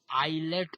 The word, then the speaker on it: islets: झुंड का नाम है आइलेट ऑफ लैंगरहैंस, ठीक है। आई से स्टार्ट है, एस साइलेंट, समझते हो ना साइलेंट, जैसे आइलैंड में एस साइलेंट तो वैसे ISLETS है स्पेलिंग इसका, ठीक है, ISLETS ऑफ लैंगर, LANGER, ये इंपॉर्टेंट नाम है।